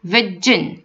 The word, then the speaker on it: version: examples my company has a different virgin virgin virgin is not vision okay so my company has